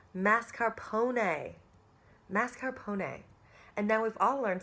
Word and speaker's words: mascarpone: whole entire life and there is no r at the beginning of the word before the S the r goes at the end of the word before the P so it is not